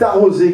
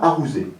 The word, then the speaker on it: arroser: Favre de Vaugelas dit c'est arrosé qu'il faut dire et non pas arroser voilà donc ces quelques